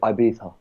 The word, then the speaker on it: Ibiza: people say Ibiza well there's multiple ways to pronounce it but especially the English people are called Ibiza okay because the well the the got a long way you write it e IV so then the V becomes a B Ibiza okay